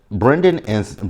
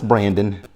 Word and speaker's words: Brandan: And Brendan is it Brendan or is it Brandon? Because it's spelled one way, but I kept hearing Sienna say Brandon, but it's spelled like it says Brendan. No, it's Brandon. It's Brandon.